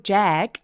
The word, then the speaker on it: Jack: Jack, 잭 아니고 Jack. 몸 엄청 길죠? apple 할 때 에 소리예요.